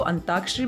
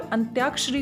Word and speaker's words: अंत्याक्षरी: कई बार हम इसको अंताक्षरी भी बोल देते हैं, तो यहाँ पर अंत्याक्षरी होता है, इस तरीके से इसे लिखा जाएगा।